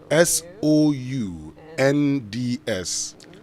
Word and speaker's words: sounds: of this word s o u n DS s o u n DS are you right how do you pronounce that I didn't get it suppos okay